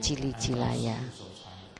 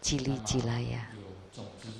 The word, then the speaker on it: Jili Jilaya: But there are some who recited it this way. There's some people recite it that way. But my teacher taught me to recite it Jili Jilaya. So we follow his instruction. Not this. And not this. It should be Jili Jilaya.